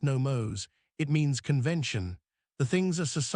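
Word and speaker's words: νόμος: The Greek word is nomos, pronounced nomos.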